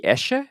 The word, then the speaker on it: Esche: It's ash, and in German it's Die Esche is what I looked up.